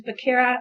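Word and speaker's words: Becerra: and his name once again is xavier and it's spelled x-a-v-i-e-r and last name is bacara b it's a boy e-d-e-r-r-a and he used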